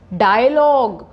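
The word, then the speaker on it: dialogue: रुक जाते हैं टंग डायलॉग डायलॉग ी तो नहीं बोलते डायलॉग जी पे ही रुक जाते हैं तो आप याद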